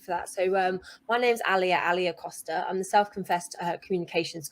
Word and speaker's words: Alia: It's Alia, so like Malia without the M.